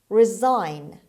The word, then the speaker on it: resign: villagers word number eight resign resign resign the stress is on the second syllable on s and s in this word is pronounced z resign means give up